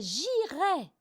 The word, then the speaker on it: irai: verbe, la racine, c'est J'IRAI, tu IRAS, Pour les anglophones, le IR ça se prononce vraiment IR comme eer.